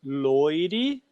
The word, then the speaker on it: Loire: Vocês estão vendo o nome dele, Loire, mas nós pronunciamos Loire em francês, né?